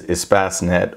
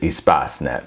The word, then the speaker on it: Espacenet: search engine that i'm going to cover is espacinet or espacenet depending on the pronunciation they it is a product of the european patent office and they pronounce it espacenet so that's the pronunciation that i'm going to